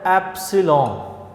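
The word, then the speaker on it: epsilon: ये जो एप्सिलॉन है इस वर्ड को आपने प्रोनाउंस यूँ करना है, ये ग्रीक लैंग्वेज का वर्ड है एप्सिलॉन, ठीक है, और ये इसके साथ ये लगी हुई है नॉट, एप्सिलॉन नॉट, ठीक है।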